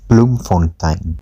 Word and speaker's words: Bloemfontein: It's pronounced Bloemfontein, literally blooming fountain, nicknamed the City of Roses.